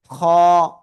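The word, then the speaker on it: خ: হলক মানে গলা, গলার শেষ, সেই জায়গা থেকে আমরা এই অক্ষরটা উচ্চারণ করব মোটা আওয়াজে। খ, খ।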